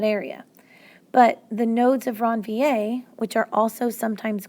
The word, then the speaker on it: Ranvier: are called nodes of ranvier it's a French guy so it's pronounced all fancy so those are the nodes of ranvier so the nodes of ranvier they don't have any